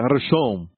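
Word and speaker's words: ראשון: Diga Rashom. Rashom quer dizer primeiro. E se escreve assim, em hebraico, da direita para a esquerda: Resh, Aleph, Shin, Vav, Nun.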